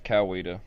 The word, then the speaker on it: Coweta: It's Coweta.